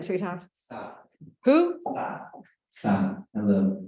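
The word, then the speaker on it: Sah: Sa. Who? Sa. Sa. Hello. Spell it, darling.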